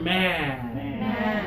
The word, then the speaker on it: man: just one of them two fingers touch right here man open up more feel it from the sides and the back okay this one takes